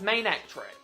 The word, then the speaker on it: Manectric: Its name is Main and Electric, therefore it's Manectric.